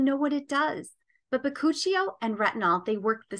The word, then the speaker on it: bakuchiol: It looks like bakuchiol, but it's pronounced bakuchiol.